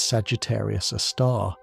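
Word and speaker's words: Sagittarius A*: massive black hole called Sagittarius, a star. Scientists pronounce its name as Sagittarius, a star. Even though the symbol used in astronomy is the letter A, followed by a small star.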